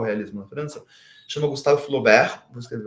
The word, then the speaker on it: Flaubert: Vai inventar o realismo na França, chama Gustavo Flober. Vou escrever o nome dele aqui no chat, caso alguém queira pesquisar depois. Gustavo escreve Flaubert, mas pronuncia Flobert.